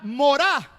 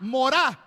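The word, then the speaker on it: מורא: Dice de ustedes, viene la palabra morá, como la palabra mora, pero acento en la A, morá.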